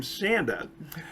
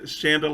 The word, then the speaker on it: Chanda: She pronounces her name Chanda. And you'll see in the video that I'm going to play, Shanda like Panda is how she first introduced herself to me.